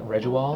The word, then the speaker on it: Rejuall: to pronounce their name, like Reju-All, that's how you pronounce it, they changed the brand name to Reju-All.